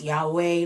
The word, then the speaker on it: Yahweh: There's so many debated pronunciations of Yahweh. It's like Yad-Hey, Wah-Hey, then there's Yahweh. Like there's debate around it.